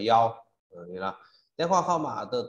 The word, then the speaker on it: 幺: Số điện thoại như là mã số nên ta lưu ý đọc từng con số 1, số 1 đọc là yao.